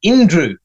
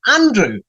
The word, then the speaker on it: Andrew: It seemed like saying, my name is Andrew, but, it's spelled with the letter A, but you pronounce it Indrew. And I'll say, no, it's not Indrew. It says the letter A, Andrew.